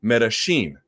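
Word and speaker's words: Medellín: If you go to Argentina, they say it like a sh. They pronounce it Medellin.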